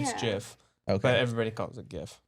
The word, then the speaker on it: GIF: but I think it's gif I think it's no I think it's the inventor said the actual pronunciation it's Jeff okay everybody calls a